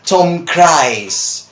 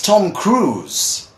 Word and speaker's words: Tom Cruise: Mission Impossible start now most people say especially here in Argentina they say Tom cries or Tom Greece or something like that well the name of this man is Tom Cruise right that's a cruise